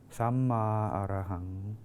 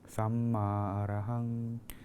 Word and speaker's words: Samma Arahang: The mantra here we are using is pronounced like this: Samma Arahang, Samma Arahang.